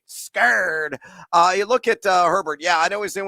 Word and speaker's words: Herbert: countdown Justin Herber yeah I know how to pronounce his name it's Herbert give me the over on three and a